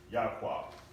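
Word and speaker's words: יעקב: So the way that I'm pronouncing it, without the vowel pointing system, we have Ya. This makes an ah sound. Ah, ko, aqua, Yaqua. All right, Yaqua.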